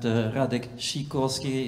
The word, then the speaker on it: Radek Sikorski: lot of discussion and radic shikorski it's the Polish pronunciation I I don't think